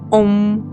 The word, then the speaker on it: Ом: Символ, до речі, індуїзму читається як ом.